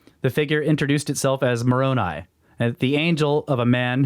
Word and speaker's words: Moroni: Do you remember how to pronounce this angel's name? I think it's Moroni. Moroni?